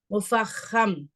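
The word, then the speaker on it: مفخم: First என்னன்னு சொல்லி பாத்தீங்க அப்படின்னா, முஃபஹம். முஃபஹம். இந்த இடத்துல இஹ் அந்த உச்சரிப்பு பாருங்க. மு ஃப ஹ அந்த ஹ வந்து நம்ம எப்படின்னா காரல், தொண்டை காரலோட சொல்லணும்.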